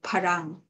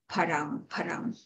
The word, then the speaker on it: pharam: And like the word farang in Thai is borrowed into parang in Bali, because Bali has no f sound. So it is with a little bit of adaptation, it's changed into parang.